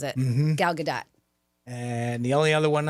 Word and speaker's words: Gal Gadot: But yeah, my name is Gal Gadot. That's Gal Gadot.